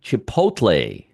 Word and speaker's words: Chipotle: CMG, Chipotle.